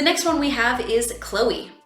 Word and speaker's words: Chloé: In French we say Chloé. So it's an A sound at the end. So here we know that it's going to be the A sound at the end because we have the accent aigu over the E.